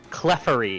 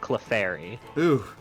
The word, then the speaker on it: Clefairy: He said Clefery said what? Clefery instead of Clefairy.